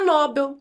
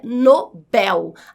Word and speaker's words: Nobel: Porque a pronúncia não é Nobel. A pronúncia é Nobel. A sílaba mais forte é a última. Bel. Nobel rima com papel.